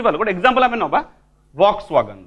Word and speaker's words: Volkswagen: लिखती भी पढ़ती कौन फ कौन हम ताले फॉक्सवैगन now this is known as accent this is